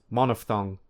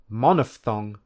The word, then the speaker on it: monophthong: remember how to pronounce monophthong and diphthong. Importantly, there is no p sound. Instead, the ph is a f sound, like in phone. So, the correct pronunciation is monophthong and diphthong, not monophthong and diphthong.